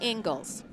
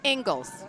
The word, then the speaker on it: Inglis: You know, I asked Andy the correct pronunciation of his last name. Okay, what is it? It's actually Ingalls. It is Ingles? And it's Scottish.